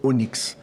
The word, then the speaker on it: Onyx: Se Onyx ou Onix? A minha mãe gostava da letra Y, ela botou Y no meu nome, então trocou a fonética, é Onix, porque a pedrinha preta é Onyx.